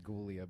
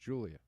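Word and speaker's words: Giulia: My friend Julia spells her name with a G, so it looks like you should say Gulia, but it's pronounced Julia.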